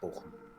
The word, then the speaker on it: Bochum: Also, definitely not pronounced Bochum, in case you're wondering. It is pronounced Bochum.